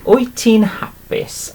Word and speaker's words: wyt ti'n hapus: Okay, wyt ti'n hapus? Are you happy? And it's literally pronounced like this.